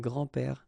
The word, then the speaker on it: grands-pères: Okay, so it's not really difficult, and especially if you think about that, you don't pronounce this s, so actually phonetically it's the same, grand-père here and grand-père here.